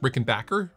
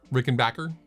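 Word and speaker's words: Rickenbacker: Rick and Bacher guitars Rick and Backer Rick and Backer guitars is I think the proper pronunciation I'm sure you'll I'm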